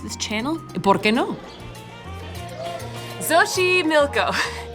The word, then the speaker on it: Xochimilco: Xochimilco, spelled like this.